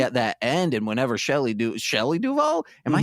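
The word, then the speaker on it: Shelley Duvall: at times especially at that end and whenever Shelly Duval am I saying that right you are yes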